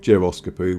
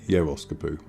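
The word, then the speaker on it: Geroskipou: Now you might wonder where Euskopu is, and you might be calling it Geroskopu. Well, it's pronounced Yeroskopu.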